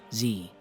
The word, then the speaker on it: Z: all proclaimed that quote, "It is pronounced Z." If We Webster laid the foundation for Z over zed, Charles Bradley poured the cement. The rhyming scheme of the ABCs leaves really no doubt of this letter's pronunciation. Me rhymes with Z, not zed.